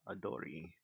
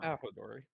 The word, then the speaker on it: Ahodori: All right, so I summon Adori. I think that's his name. Should be Okay. his name. Uh, Ahodori. there we go. I was missing a syllable.